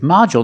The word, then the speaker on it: module: With module, the stress is on the first syllable. So the second syllable is short. Module. And we see the D makes the J sound, like juice and jump.